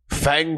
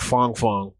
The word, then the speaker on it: Fang: Fang. I think it's supposed to be pronounced like Fong Fong.